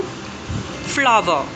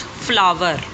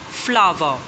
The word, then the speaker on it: flower: Flower. The last R is silent. It's not flower, but flower. Yes, in American pronunciation, R is uttered, but in British pronunciation, we use flower.